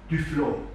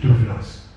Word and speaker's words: Duflot: an Herrn Adolf Ferdinand Duflot gedacht wurde. Ich habe es jetzt so ausgesprochen, wie es sein müsste. In Sachsen ist er natürlich Duflos.